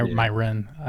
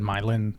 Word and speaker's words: Myron: I said it wrong right there. It's Yeah. Myron. I said Mylan.